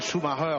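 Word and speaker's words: Schumacher: podium Michell encore dit Michael Schumarer si on veut le prononcer à l'allemande Brundle donc Brundle pardon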